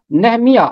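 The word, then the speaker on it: نحمیاہ: اس کا تلفظ ہوگا نہمیہ، میم کے نیچے زیر آ جائے گا۔ اور اسی طرح ہے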